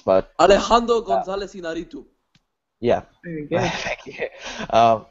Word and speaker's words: Alejandro González Iñárritu: It's so hard to pronounce, but Alejandro González Iñárritu.